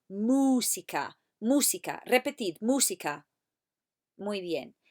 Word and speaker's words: música: Ahora, música. Repetid, música. Muy bien. I don't want you to say musica. There's no mewing like a cat. It's mooing like a cow. Música, música.